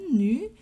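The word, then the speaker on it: 女: And the first element is the character for woman, nu.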